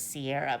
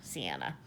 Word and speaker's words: Sienna: I think I always want to say her name is Sierra, but I think it's Sienna. Yeah, Sienna.